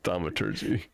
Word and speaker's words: thaumaturgy: it's pronounced thaumaturgy.